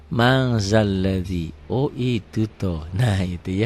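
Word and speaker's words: مَن ذَا الَّذِي: Tulisannya man ditulisnya, nggak ada g-nya, ditulisnya, dibacanya ada g-nya. Jadi mang zalladzi.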